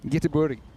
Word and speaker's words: Göteborg: It's Göteborg is how they say it. Bless you. Yeah, exactly. But I will say the people of Gothenburg actually made up the pronunciation Gothenburg to just make them a bit more viable for international trade in the early 1800s. So we're not offending them if we say Gothenburg.